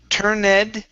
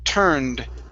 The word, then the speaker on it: turned: okay this one here instead of turn okay it's Ed Ed will be a a d sound so this is turned turned her head turned her head great